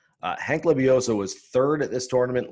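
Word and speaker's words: Lebioda: i believe it's pronounced leviosa someone can tweet me and tell me if i'm doing that wrong there's a d in there but i believe it's an s sound uh hank leviosa was third at this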